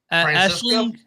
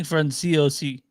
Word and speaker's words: Franciosi: It's Francisco? Ashley Franciso. I forgot. Ashley Franciosi.